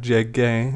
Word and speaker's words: llegué: We're just going to add the letter U after the G because GU gives us a G sound. The U is silent here. So now we have llegué instead of llegué.